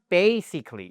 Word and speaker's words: basically: Donc c'est bien basically, il faut pas hésiter à faire ce son un peu nasal, d'accord ?